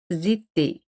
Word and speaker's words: étaient: O ente no se pronuncian. Todos se pronuncian était al final, menos con nous y vous.